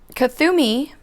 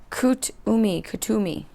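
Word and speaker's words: Kuthumi: Okay, Katumi is pronounced Kutumi, is an ascended master who appears as a well-dressed Indian man with a golden aura.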